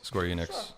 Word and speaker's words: Square Enix: Square enex event uh is that did I pronounce that right Enix Enix Square Enix en Square Enix Enix yeah okay no one's going